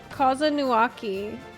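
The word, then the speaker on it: Kozama'uka: Kozanuaki.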